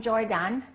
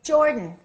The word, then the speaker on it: Jordan: say he is from Jordan reduce that a and say Jordan okay now let's practice